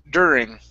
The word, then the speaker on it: during: word during right here instead of do do ring okay it's an er sound it's der during during okay very nice very